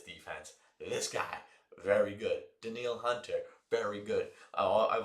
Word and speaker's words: Danielle: Denil Hunter very good. I I've always said this, the scariest Danielle that you've ever seen. Denille Hunter. He spells his name Danielle's said Denil.